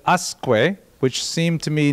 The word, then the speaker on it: Usque: So I would guess the subject of tonight's lecture is Samuel Usque. However, when I looked it up online, they said Usque, which seemed to me